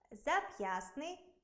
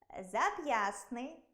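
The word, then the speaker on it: зап'ястний: Це слова зап'ясний, кістлявий, пестливий, хвастливий, хваснути, хворосняк, 16, компостний, контрастний. У цих словах-винятках звук «т» у вимові зникає, але на письмі зберігається.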